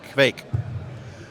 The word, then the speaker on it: Kveik: it exactly correctly either so it sounds like a bike with a k Kinda Yeah Yeah okay and there's others and even in Norway the pronunciation varies some of them pronounce it fake so Pike cake I